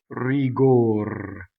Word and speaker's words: rigor: Il tuo fedel sospiro ognor, Cɛssa crudɛl, tanto rigor. So you see rigor rhymes with cor, or ognor.